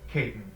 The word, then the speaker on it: Catan: 9 the rivals for Catan or Caton as I believe it's supposed to be pronounced now this game say